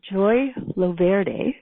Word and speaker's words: Joy Loverde: Joy Loverde. Did I pronounce that right, Joy? Oh, beautifully. Like the Italian version.